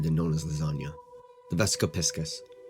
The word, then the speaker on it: Vesica Piscis: known as lasagna the vesap piscus some people pronounce it vesco Pisces but they're wrong now before you roll